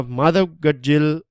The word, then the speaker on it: Madhav Gadgil: Now Madhav Gadgil is Madhav Gadgil, that's the right pronunciation of the surname of Mr.